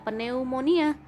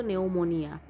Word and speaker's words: pneumonia: grup e di depan jadi jangan bacanya pneumonia v-nya diabaikan jadi bacanya itu pneumonia nah pneumonia merupakan peradangan